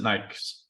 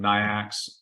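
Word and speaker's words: NAICS: in part one about Nike's codes I pronounce it nice it's North American industry classification system nyacks right so Knights codes this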